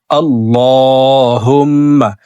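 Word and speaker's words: اللّٰهُمَّ: দেখুন এভাবে পড়তে হবে। আল্লাহুম্মা আল্লাহ শব্দের আগের হারফে জবর আসছে। এই কারণে এই লামকে ল বলে অর্থাৎ মোটা করে পড়ব।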